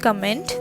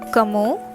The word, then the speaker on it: comment: bonjour kamo talibu so this is again not comment this is kamo and this t gets connected to alay and becomes tali all right how are